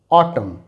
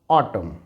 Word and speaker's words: autumn: silent हो example देखें एम के बाद एन है तो हम इसे पढ़ेंगे ऑटम ऑटम यहां पर एम के